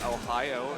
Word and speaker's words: Ohio: Ohio is pronounced the same way as the Japanese word Ohio, which means hello.